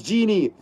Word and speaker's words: Jyn: Go says Jyn is known as Genie.